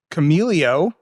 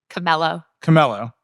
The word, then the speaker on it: Chamelo: So, Rockid, that's spelled R-O-K-I-D. Nuance, X-Real, everyone knows Nuance. Vuzix, Camelio, Camello.